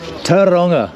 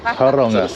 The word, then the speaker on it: Tauranga: Tauranga. Yeah. Tauranga. They seem to sort of really squish it all together.